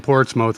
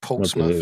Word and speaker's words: Portsmouth: It's pronounced Portsmouth, not Portsmouth. Not that there was any evidence to begin with.